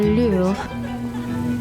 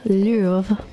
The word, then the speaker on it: Louvre: In this series, we will explore the Louvre, Notre Dame, Dior, the catacombs, and even Versailles. This is France. Welcome to the Louvre, or the Louvre as the Americans say.